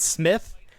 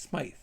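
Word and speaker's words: Smythe: Also, is it pronounced Smite? It's not Smith. I've been saying crab apple. It's Smite.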